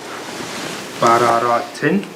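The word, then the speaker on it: بَرَرَةٍ: Ba, fatha, ba. Ra, fatha, ra. Ra, fatha, ra. Ta, kasra, tan, tin. Ba, ra, ra, tin.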